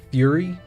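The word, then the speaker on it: Furi: I'm thinking about playing the game Fury. F-U-R-I, I believe is how it's spelled.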